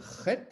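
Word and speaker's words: ח: La huitième, la lettre chet, difficile à prononcer. Chet, c'est guttural, ça sort de la gorge.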